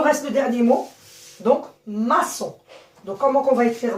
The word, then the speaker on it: maçon: Vous savez que O et N, ils se prononcent O. Donc, maçon.